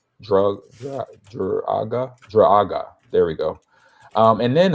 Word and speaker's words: Druaga: It's spelled Druaga. Druaga.